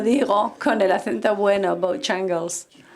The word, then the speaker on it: Bojangles: No sé si los snobs dicen Bojangles y Bojongle es la otra manera de decirlo. Se dice como la gana, ¿cómo se dice? Bueno, yo soy snob, yo digo Bojangles.